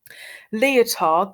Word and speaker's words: Lyotard: Lyotard, don't pronounce the D, it's a silent D.